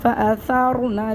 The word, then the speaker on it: فَأَثَرْنَا: نَقْعًا فَأَثَرْنَا بِهِ نَقْعًا اس کے ہجے کر لیتے ہیں، فا زبر فا، حمزہ زبر آ، فَأَثَرْ را زبر ثار، جلدی جلدی پڑھنا ہے۔ فَأَثَرْ نون زبر نا، فَأَثَرْنَا اگر ہم جہاں پہ